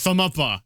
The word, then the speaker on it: Thumuppa: Even though it sounds ridiculous, I made it up, so I get to choose how to pronounce it. It's Thumb Uppa.